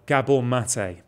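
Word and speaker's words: Gabor Maté: Have you come across Gabor Mate's work? Never heard those syllables put together before. You would absolutely love Gabor Mate.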